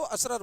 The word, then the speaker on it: usurer: पे पैसा देते हो उधार, ऐसे लोगों को असरर बोलते हैं।